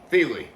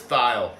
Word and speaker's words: Thile: bluegrass sir crystal leopard chris thiele feely was going to call him chris thile that's how i pronounced it for a long time kind of close to